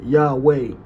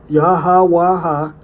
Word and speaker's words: Yahawah: So you don't pronounce it Yahweh. There is no Yahweh. There's no E's in Hebrew. And once again, the consonant H pronounced with an I sound. So more accurately, right, the consonantal skeleton is Yahawah, and vowels like I are supplied by tradition.